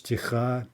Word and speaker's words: тиха: Сквозь туман кремнистый путь блестит, ночь тиха. Okay, look at that. Ночь тиха, right? Noun, that's going to get stress. Тиха, stress on the second syllable.